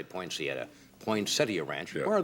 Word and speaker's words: Poinsettia: Poinsettia? That's the correct pronunciation. I always say Poinsettia.